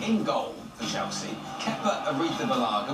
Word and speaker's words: Arrizabalaga: goal for Chelsea keer AR Baga which you don't know how to say his name if you know the panut Colada Song which goes if you like peanut colada just remember that is